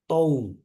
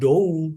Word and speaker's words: dou: Kalau D sama OU misalnya. D sama OU bacanya jadi tou. Bukan dou, tapi tou.